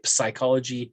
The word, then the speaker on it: psychology: and uh pt ptosis see we don't really say the p they don't say ptosis you don't say psychology you don't say pneumonias